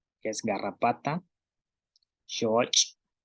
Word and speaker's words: xooch': Entonces tenemos palabras como pech, que es garrapata, shoch. Entonces escuchen el sonido que hace pech, shoch, pech, shoch. Entonces en el caso de pech, la cha, pech, tenemos la salida del aire que sale